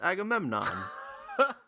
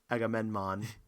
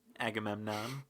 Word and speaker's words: Agamemnon: I kind of liked how no one seemed able to pronounce Agamemnon there where Well, I mean, actually, mostly it was pronounced properly, but it was it was flubbed on a couple of occasions. I think I heard Agamenmon. Yeah.